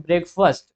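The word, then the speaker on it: breakfast: ठीक है स्ट बट इसको जब हम लोग प्रोनाउंस करते हैं तो इसको प्रोनाउंस करते हैं ब्रेकफास्ट ठीक है तो ये ब्रेकफास्ट आई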